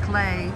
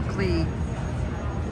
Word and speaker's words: Klee: opens at 11: and I know his name is pronounced clay but no matter how many times I say it Paul CLE Rings right in my